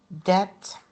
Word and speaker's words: debt: Okay, and then we have um Okay, we have here just a note that the b is silent in climb, comb, debt, and dumb.